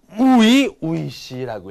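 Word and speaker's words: 初々しい: 뭐 하지메 때 이런 거 많이 읽었는데 이렇게 이형용사가 되는 건 여러분들 아마 또 처음인데 요거는 우이시라고 읽어요. 우이시. 이 초자를 우이라고 읽는다라는 거.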